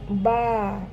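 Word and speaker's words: ب: এ বি বা ঠিক আরবিতেও এরকম এর নাম হচ্ছে বা কিন্তু এর সাউন্ড হবে বা এবং এটি হেভি সাউন্ড নাকি লাইট সাউন্ড? এটি হচ্ছে লাইট সাউন্ড। অর্থাৎ পাতলা করে পড়তে হবে।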